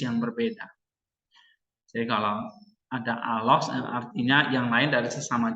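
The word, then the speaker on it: ἄλλος: Sebagai contoh, dalam classical Greek ada kata allos, ini bacanya nanti allos, yang artinya yang lain.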